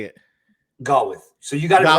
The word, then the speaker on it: Gawith: Gawith.